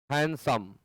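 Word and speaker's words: handsome: हैंडसम, हैंडसम means होता है तांगा, घोड़ा गाड़ी। हैंडसम भी लगाएंगे तब सुंदर होगा, उच्चारण दोनों का सेम है। हैंडसम एंड हैंडसम, सुंदर वाले में डी साइलेंट रहता है।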